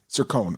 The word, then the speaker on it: Cercone: Cercone.